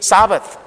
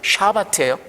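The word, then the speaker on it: שבת: 안식일이 사바트. 근데 사실 히브리어 발음은 샤바트입니다. 사바트가 아니고 샤바트예요.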